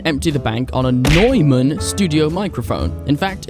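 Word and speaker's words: Neumann: Newman Noyman. Hold a second. I need to look up how to pronounce that. Generally, it's pronounced like Noyman.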